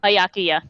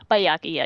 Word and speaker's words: Byakuya: Byakuya. Byakuya.